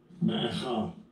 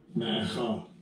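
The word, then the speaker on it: Maacah: Macha. Macha. Macha.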